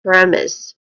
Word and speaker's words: premise: So that's premise. Pronunciation wise, we only have two distinct sounds here. Starting with Prem. Again, Prem, which is the stress syllable.